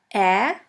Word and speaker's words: Ä: We call it Ä, or A Umlaut. A Umlaut. A Umlaut is pronounced like the E in the word melon or in the A of the word H.